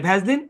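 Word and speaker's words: Vaseline: আর ভ্যাসলিনের ব্যাপারটা হচ্ছে ওটাই, রুল মেনে নাই, মেলানোর দরকার নেই, ভ্যাসলিন ভ্যাসলিন ব্যাস।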